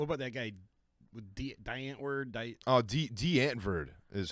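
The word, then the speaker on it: Die Antwoord: D'Antwoord is how you pronounce that.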